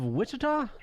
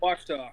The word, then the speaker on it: Ouachita: And it's Jaws of Wichita? Did I say it right? Ouachita.